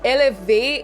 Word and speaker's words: élevé: First of all, it is actually the way you pronounce elevate in French. So élevé is how you say